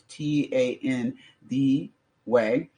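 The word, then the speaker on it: Thandiwe: But her actual name is Tandi Way. T-n is pronounced this Tan D way. The W was added back in in 2021 when she reclaimed the correct spelling and pronunciation.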